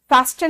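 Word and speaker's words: fasten: सीधा आप फैशन में फास्टन नहीं बोलते बेटा, टी यहां साइलेंट है, इसमें एस लगा देते हैं लोग।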